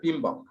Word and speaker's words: PMBOK: এটাকে আসলে এমনি বোঝা যাচ্ছে PMBOK, কিন্তু এটাকে আসলে প্রোনাউন্সিয়েশন করতে বলা হয়েছে PMBOK। এই যে একটা আই মাঝখানে রাখতে হবে, PMBOK, ঠিক আছে, project management body of knowledge.